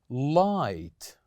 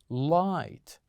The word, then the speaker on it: light: we have here is light light say after me light so here we kept G and H silent letters the same goes here